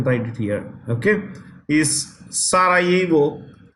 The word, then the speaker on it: Sarajevo: Okay, is Sarajevo. The J in this word is silent. It's Sarajevo.